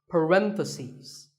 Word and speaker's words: parentheses: you're talking about both the plural is parentheses the last syllable becomes C's parentheses word number 47 is